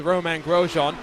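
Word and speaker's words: Romain Grosjean: for i i guess we've got to go over all the different ways that the broadcasters pronounce it his name but we'll stick with roman grosjean it was interesting with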